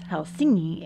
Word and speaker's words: Helsinki: Helsinki or properly pronounced hel singi is the gateway to